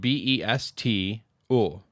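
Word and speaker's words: Bestå: you pronounce this probably so it's spelled b-e-s-t oh oh being the a with the circle best besto besto besto hemnes uh and he's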